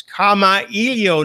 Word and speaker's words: Kamailio: yo by the way James wants everybody to understand how that's pronounced is comma y ou not Khmer Leo Olay